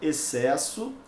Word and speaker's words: excesso: A mesma coisa, então, vai acontecer com a palavra excesso. Eu tenho 2 dígrafos, né?